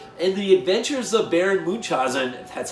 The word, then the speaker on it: Munchausen: also in '87, and The Adventures of Baron Munchausen, that's how you say it, in '88, where the second unit director was one Michele Sauvé.